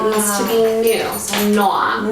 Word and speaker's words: Noa: So Noa. Noa.